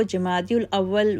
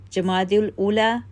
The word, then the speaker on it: جمادی الاولیٰ: ممتاز کر دیا گیا۔ ہم اہل اردو ان مہینوں کو جمادی الاول و جمادی الثانی لکھتے اور بولتے ہیں، حالانکہ ان دونوں مہینوں کے ناموں کا صحیح تلفظ جمادی الاولیٰ و جمادی الاخری یا جمادی الثانیہ لکھا اور بولا جاتا ہے۔ ان دونوں مہینوں کی